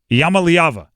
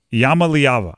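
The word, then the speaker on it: Iamaleava: was going to happen Yama liava there you go uh yava Yama leava I believe that's how you pronounce it Tennessee quarterback he's a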